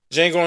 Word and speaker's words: Django: Django Unchained, the D is silent.